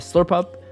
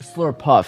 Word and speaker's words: Slurpuff: bit having that return banked for um that slurp up uh slurp slur puff sorry I haven't said that Pokemon's name in